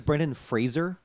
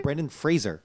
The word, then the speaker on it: Brendan Fraser: Did you know that it's Brendan Fraser? Okay, fuck off. No, I'm serious. It's actually Really? Brendan Fraser. You know. It's not spelled like Frasier, the TV show.